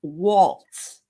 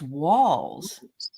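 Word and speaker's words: Walz: notice that he that Vance called Tim Tim Waltz like a waltz yeah his name is walls and he was so not only does Donald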